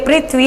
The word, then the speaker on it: पृथ्वी: ये री की मात्रा होती है, जैसे पृथ्वी, इसका भी गलत उच्चारण होता है, कई जगह पृथ्वी बोलते हैं इसको, पृथ्वी नहीं, ये पृथ्वी है, यहाँ ये री की मात्रा है।